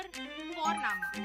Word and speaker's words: Vorname: और हम यहाँ पे फॉरनामा प्रोनाउंस करते हैं बट लिखते हैं उसको वी, फॉरना, VORNAME। तो वो हम इंग्लिश के अनुसार प्रोनाउंस करेंगे तो बनेगा फॉरनेम, बट नो इट्स फॉरनामा।